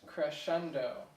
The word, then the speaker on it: crescendo: So it's actually pronounced crescendo.